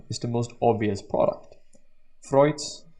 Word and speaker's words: Freud: the most obvious product freud's or actually freud since he's austrian therefore i can pronounce it german dish that's the stage